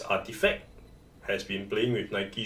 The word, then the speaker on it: RTFKT: RTFKT, pronounced as Artifact, has been playing with Nike shoes for a few years already.